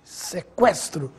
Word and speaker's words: sequestro: a letra U não agora preste atenção nestas palavras que frequente sequestro delinquente Agora sim você ouviu som da letra U Veja a diferença no